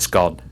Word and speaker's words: scone: we're Northern that's it scone it's it it's doesn't no it's for those it doesn't rhyme with bone no okay unless you're one of these Airy fairy it rhymes with gone gone okay yes it's